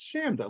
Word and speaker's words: Chanda: pronounced your name incorrectly you said no it's Shanda like Panda and I was like